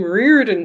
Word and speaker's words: Riordan: Ronda Riordan she says thank you for pronouncing my name Reardon correct not many do it's Irish well it was only